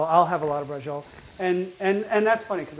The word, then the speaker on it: braciole: absolutely yummy yeah um but brola you actually pronounce every letter but when I grew up in the Bronx hey let me get some brol you know that's that's